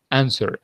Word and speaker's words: answer: you have to say answer and if you like the British action juda and say answer okay but the important thing is that you never pronounce the W okay so remember that